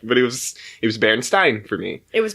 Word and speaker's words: Berenstain: But it was still the same thing. But it's Stain.